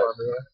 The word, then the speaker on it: Cormier: And I'm gonna go with Cormier is how you actually pronounce it. Cormier.